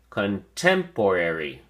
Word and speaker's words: contemporary: at your flash card contemporary has five syllables and the emphasis or stress is on the second syllable temp so we say contemporary contemporary say it with me